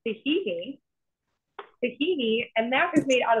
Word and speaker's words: tahini: Yeah, so it's pronounced tahini, and that is made out of sesame seeds.